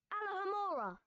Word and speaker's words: Alohomora: Alohomora. Okay, here goes. Alohomora. Alohomora. With a long O sound at the end.